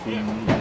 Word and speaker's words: Hunmin: I wasn't sure if it was spelled like Human, but it's pronounced Hunmin.